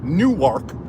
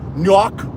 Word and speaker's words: Newark: KN nework New Jersey cuz I don't want to say it Newark because of apparently that's how New Yorkers say it when you say it Newark so I got to say it like New Jersey PE people say it nework oh there's been sign